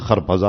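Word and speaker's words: خربزه: ہیں خربوزہ، ہے نا، فارسی میں اس کا تلفظ خرپزا اور ترپزا، وہ آئے تو ان چھلکے کیا کیا انہوں نے، کھانے لگے خربوزہ اور چھلکے مجھے مارنے لگے.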